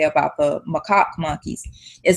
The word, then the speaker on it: macaque: monkey, and it's spelled Macaque. And I tried to research how you pronounce it, and from what I can come up with, it's like macaque or Yeah, something like I that.